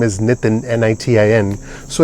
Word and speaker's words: Nitin: My name is Nitin. N-I-T-I-N so it's okay everyone messes up my name it's not an easy name to pronounce.